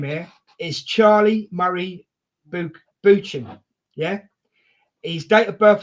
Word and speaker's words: Buchan: It's Buchan, is his surname. Oh, Buchan, thank you. Did I? Buchan, yeah. I butchered it.